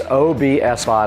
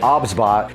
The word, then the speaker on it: OBSBOT: But today, OBSBOT, now I did pronounce that incorrectly in the last video. It's OBSBOT. I was calling it OBS. It is not. It's three separate letters when you pronounce it.